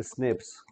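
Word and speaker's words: SNPs: तो इन्हीं को बोलते हैं प्रोनाउंसिएट किया जाता है स्नेप्स सिंगल न्यूक्लोटाइट पॉलीमॉर्फिज्म।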